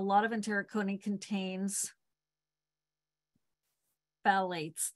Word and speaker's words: phthalates: I was horrified to find out a lot of enteric coating contains phthalates. That's not how you say that word. Phthalates. I know what it is. I'm having a hard time pronouncing that word.